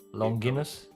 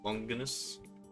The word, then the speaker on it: Longinus: I'll do a little pattern of the uh lance of Longuinius. How do you pronounce it? Longinus. Longinus.